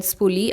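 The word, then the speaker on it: spoolie: आई am using the pulley again. I mean स्पूली. I always pronounce it as pulley. I don't know why.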